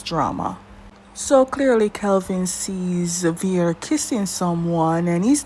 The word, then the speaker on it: Veer: How do you pronounce his name? Veer.